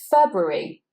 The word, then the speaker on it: February: This one is February, February. So here we want to say those both R's, and then we've got a bruh in the middle, February, the month of February.